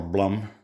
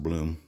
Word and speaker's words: Blum: company called bloom or blum i believe it's pronounced bloom made in germany they